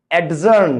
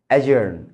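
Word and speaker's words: adjourn: বন্ধুরা, এটার উচ্চারণ কিন্তু অ্যাডজেক্টিভ না, অ্যাডজাস্ট দ্য লাইট না, অ্যাডজার্ন না, অ্যাজার্ন, অ্যাডজেক্টিভ, অ্যাডজাস্ট। ডি এর পরে যদি জেই বা জি আসে, ডিটা সাইলেন্ট হয়ে যায়, মাথায় রাখবেন।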